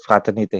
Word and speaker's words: fraternité: Itu bacanya gimana sih, biar agak benar? Liberté, égalité, fraternité.